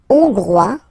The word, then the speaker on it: hongrois: La Hongrie, hongrois, hongroise. Okay, hongrois, grois, hongroise. Okay, so here, final S not pronounced for the masculine form, and then you pronounce it here for the feminine form.